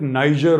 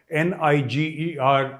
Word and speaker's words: Niger: and gentlemen two three things you know uh Niger I used to call it Niger all my life but apparently it was a French Colony till the 60s and the French pronunciation of n-i-g-e-r is not Niger but Niger so Indonesia you